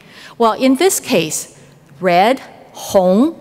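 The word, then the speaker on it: 红: Well, in this case, red, hong, pronounced, another word that means vast is also hong.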